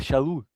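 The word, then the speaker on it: שאול: apóstolo pudesse ser eh, pronunciado Paulo, mas na verdade é Shaul.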